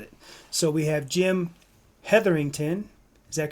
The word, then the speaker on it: Hetherington: So we have Jim Heatherington. Is that correct? Did I pronounce it right Jim? Uh oh. Jim frozen. Yeah, it's definitely correct. Jim Heather, you got it right.